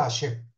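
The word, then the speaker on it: השם: Y se deberá meditar el santo nombre de Hashem que se pronuncia, que es Hey Shin Mem, que se pronuncia Hashem.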